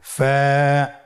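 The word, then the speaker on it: فاء: ফা কফ কাফ লাম মিম নুন ওয়াও হা হামজা ইয়া। ফা হরফটি আপনারা স্ক্রিনে দেখতে পাচ্ছেন। ফা হরফটি উচ্চারণের ক্ষেত্রে বারিক হবে এবং এক আলিফ টেনে পড়তে হবে।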